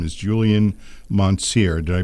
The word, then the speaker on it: Mountsier: His name is Julian Mountsier. Did I pronounce that correctly, Julian?